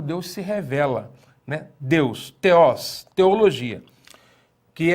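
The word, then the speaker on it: θεός: As oxítonas são aquelas que levam acento agudo na última sílaba. Exemplo, veja só a palavra teós.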